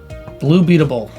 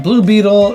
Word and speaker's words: Blue Beetle: Blue Beatable. As I apparently mispronounced it in another list that I made. Alright, Blue Beetle is good.